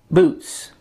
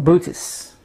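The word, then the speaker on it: Boötes: that came up recently concerning boots or Buddhists depending how you want to pronounce it b-o-o-t-e-s title of this article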